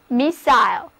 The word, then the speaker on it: missile: 字母音，read after me 就是 missile，天上飞的导弹，同时也指发射物。